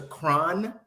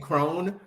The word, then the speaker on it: Cron: Speaking of Lisa, you call Lisa Cron. That's how you say it. I think so. I've been saying Crone, but you know, we have different perspectives.